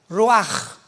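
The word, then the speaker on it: רוח: Pero la ch en el hebreo se pronuncia como j. Roaj es la palabra para espíritu en hebreo.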